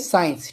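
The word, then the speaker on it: science: ले लेते हैं एक एग्जांपल ले लेते हैं साइंस ठीक है साइंस तो यहां पर देखें एस सी आई एनसीईआरटी हो जाएगा साइलेंट ठीक है तो हम इसके लिए कपड़े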